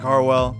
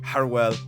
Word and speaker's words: Haroual: is my brother malik harwell call me tm all right i said it wrong malik harewell it